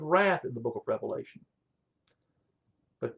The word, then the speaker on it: Revelation: in the book of revelation but don't pronounce the book with an s because it's one revealing of christ and the seven seals